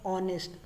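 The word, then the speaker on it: honest: हम वहाँ एन का इस्तेमाल करेंगे जहाँ पे वॉवेल लेटर का प्रोनाउंस हो, चाहे पहला लेटर हमारा कॉन्सोनेंट ही क्यों ना हो। Like ऑनेस्ट।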